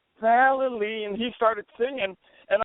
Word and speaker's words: Vallely: said it wrong again he said Val it's very easy and if you sing it you can do it right valy and he started singing